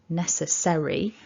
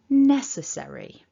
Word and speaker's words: necessary: We say an E, necessary, but it looks like an A. Don't be tempted to change that vowel into an A. It needs to be an E. Necessary. And remember, it's 4 syllables. We stress the first one.